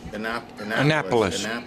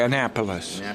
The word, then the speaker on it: Annapolis: Annapolis. You got to put a nap in there. Okay, Annapolis.